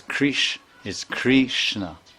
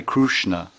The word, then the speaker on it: Krishna: That Kri is, it's not Kri, and it's not. It's something between Kri and Kru. Like in Orissa, they say Hare Krishna.